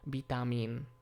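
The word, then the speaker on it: ビタミン: a small i, but in most loanwords it’s pronounced as a b, because that’s easier for the Japanese. So, bitamin.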